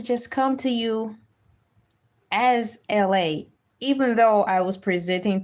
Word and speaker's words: Elay: And my name is LA, pronounced like LA, like the city.